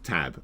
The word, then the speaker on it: TBA: either and that was TBA to be announced pronounced tab and it just never